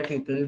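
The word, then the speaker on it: tuple: सो रो को हम लोग टपल भी बोलते हैं, टपल या ट्यूपल both are correct pronunciations. SQL में स्पेशली इसको ट्यूपल बोलते हैं या टपल बोलते हैं।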